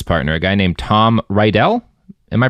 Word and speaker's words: Rydell: So there's actually a fun quote from Jim's current business partner, a guy named Tom Rydell. Am I pronouncing it right?